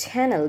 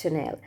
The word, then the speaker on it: Chanel: Let's say Chanel, it's gonna be pronounced as channel, because no one will understand what you're talking about. You're talking about the channel, or YouTube channel, something else, but no, it's Chanel.